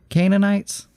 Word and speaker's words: Canaanites: Didn't God commit genocide when He commanded the killing of the Canaanites? Did I pronounce that right?